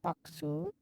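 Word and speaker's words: ボックス: that 300 boxee box in japanese it's called uh bl uh b-o-k-u-s-u boxu there's no x in japanese b-o-k-u s-u foxu oh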